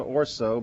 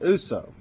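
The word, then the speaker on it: Ourso: Okay, I think it's spelled Orso, but I think it's pronounced Uso.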